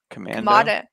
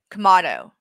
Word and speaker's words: Kamado: I think it's Kamado. There's no N, babe. What did I say? Commando. Kamado. There's not an N?